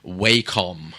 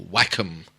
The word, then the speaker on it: Wacom: They had Wacom or Wacom, whichever way you like to pronounce it.